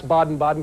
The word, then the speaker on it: Baden-Baden: water at the amazing King okay so I pronounce baden-baden correctly today yes good thank you okay another